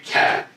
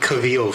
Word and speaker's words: Cavill: He be pronouncing them wrong for years. That's not true. What's Superman's name? Henry Cavill. Oh, yeah. We worked on it. Henry Cavill. We asked he was calling him Cavill for like years.